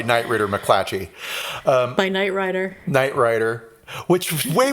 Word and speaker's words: Knight Ridder: Well, they did for 1 year, and then they sold it to a company called Knight Ridder, is how it's spelled, but they're calling themselves Rider. Is it Ritter?